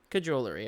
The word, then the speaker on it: cajolery: Cajolery, okay.